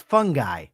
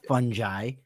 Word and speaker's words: fungi: Hey, why do you say fungi? It's fungi, not fungi.